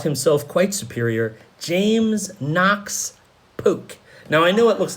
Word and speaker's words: Polk: quite superior James Knox Polk now I know it looks like Polk but from the hill country of tennessee where our man comes from it would be pronounced more poke now this is stay